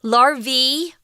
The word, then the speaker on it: larvae: Larvae is a pronunciation for the plural form. If it's the singular form, it's spelled L-A-R-V-A and it's larva. But here it's the plural, which is larvae. Kind of weird, I know, because it has an A-E at the end.